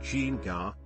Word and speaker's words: ginga: The ginga, pronounced ginga, literally, rocking back and forth, to swing, is the fundamental footwork of capoeira.